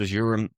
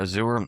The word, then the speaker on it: Azure: Microsoft Azure or Azure. Harvey is, and probably Azure is the best way to pronounce it, is natively built